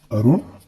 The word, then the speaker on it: अरुण: और एक उदाहरण, अरुण और बड़ा ऊ की मात्रा में ये आपको बताना है कि यहाँ पर अरुण और अरुण, ये दोनों को उच्चारण करके आप देखिए और दोनों में कौन सा शब्द सही होगा। अरुण, अरूढ़, अरुण, अरूढ़, जी बिल्कुल सही। र में छोटू का मात्रा वाला अरुण ही सही है।